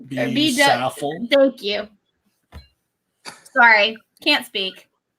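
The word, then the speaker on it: Saffell: Staff shirt? No. W Be Saffel.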